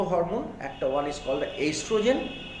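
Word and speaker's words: oestrogen: Sex hormone মেয়েদের ক্ষেত্রে হয় হচ্ছে দুটো হরমোন, একটা ওয়ান is called এস্ট্রোজেন, spelling লেখার সময় প্রোনাউন্স করার সময় ইস্ট্রোজেন, যখন লিখবে তখন মাথায় রাখবে হচ্ছে ওই ইস্ট্রোজেন, OESTRO, ওইস্ট্রোজেন।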